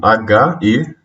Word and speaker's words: Heron: Heron se escreve com H-E-R-O-N.